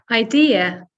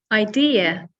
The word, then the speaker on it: idea: Sometimes I hear some of my students say ID, and when I hear that, I automatically think of a driving license or a passport. So be careful with that one. It's really, it's long. It's a longer word compared to the Dutch version. It's idea. So 3 syllables, and the stress is on the second syllable.